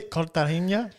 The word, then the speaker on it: Cartagena: How do you say Cartagena?